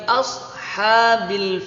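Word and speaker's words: أصحاب: Kaifa fa'ala Robbuka Bi ashabil fiil beos pakai Sob jadi bukan pakai Sin Jangan sampai kita menghafal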